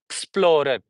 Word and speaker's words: explorer: call it iick I explorer explorer okay so when we say in British we say explorer Explorer. Explorer. Okay. Explorer. Then last R is not pronunciated at all.